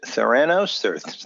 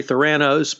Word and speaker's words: Theranos: you say her company's theranos thoroughness well I say theranos but I say hurricane and I say insurance that's just the way others talk so theranos is theranos and first i'd like